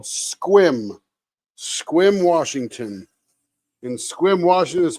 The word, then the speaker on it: Sequim: It's called Sequim, Washington. And Sequim, Washington is spelled Sequim.